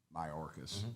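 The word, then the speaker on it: Mayorkas: the house and you referred to um um my orcas that's how you say his name uh you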